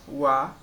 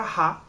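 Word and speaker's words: は: Como eu disse antes, ó, é a letra ha, só que quando ela está sendo usada nessa função de partícula, ela vai ser usada como o a. Então, sensei wa anime desu.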